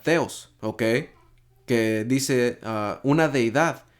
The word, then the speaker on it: θεός: a la strong 23 y 16 que se pronuncia teos Okay que dice una deidad especialmente la divinidad